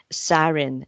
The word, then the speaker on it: Zarin: gamblers in the world Mr C by sarin is that how you pronounce it yes it is okay is a